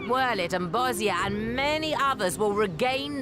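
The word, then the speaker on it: Bozja: Heong provinces like Worit and Bosia and many others will regain their freedom.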